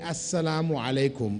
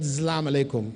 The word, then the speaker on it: Assalamu alaikum: that when we're greeting, we say Assalamu alaikum or Salam alaikum. Not Zlam alaikum. No, Zlam is like oppression on you. You've changed the meaning. So try to pronounce it correctly. Assalamu alaikum or Salam alaikum. Clearly, not Zalam. Zalam is different from Salam. Salam means peace. Zalam means oppression.